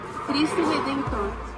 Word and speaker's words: Cristo Redentor: Cristo Redentor.